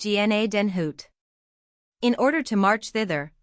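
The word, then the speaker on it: Gnadenhütten: 103 pronounced GNA Denhoot.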